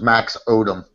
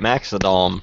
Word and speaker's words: Maxodom: thought your name was Max Odum Mr Max Odum I pronounced it right Max theom right odometer I got a pronunciation right too but it just didn't click odometer duh like speedometer yeah it didn't click